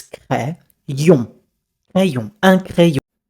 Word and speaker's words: crayon: Cray, not cré, it's crayon.